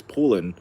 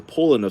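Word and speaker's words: Poulan: I think it's I think the right way to say it is pulin. Um it was a pollin sort.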